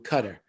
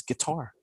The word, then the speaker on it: Qatar: have to go through cutter or quitar guitar qatar it's it's like a g in their language it's guitar yeah no it's because it's arabic but that's the correct pronunciation is guitar well i hope nobody